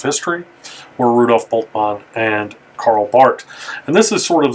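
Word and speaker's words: Karl Barth: is uh very significant this is carl bart not carl barth that's how you pronounce his name and so two significant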